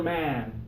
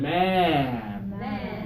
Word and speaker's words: man: turn give me and now open up for man man yeah open more for this please ah I like that that sounds good man yeah Ma your turn